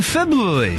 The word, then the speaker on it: February: to be like in February that's how you say it there's an R there's an R there febr February Lots coming up on